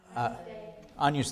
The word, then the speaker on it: Agnus: But in Roman pronunciation, this GN is like onion, like agnus. The G becomes a retroflex and becomes agnus.